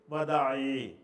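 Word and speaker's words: وداع: வதாங்கிறது ஒரு சரியான சொல்லு. ஆனால் பழக்கத்தில் பேச்சிலையெல்லாம் எப்படி சொல்லுவாங்கன்னா ஹஜ்ஜத்துல் விதா. ஹஜ்ஜத்துல் விதாங்கிறது தான் மக்களுடைய வாயில் அறிமுகமான ஒரு சொல்லாக இருக்குது. சரியான உச்சரிப்பு வந்து வதா.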